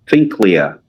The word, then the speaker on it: Finklea: It's Pinklea.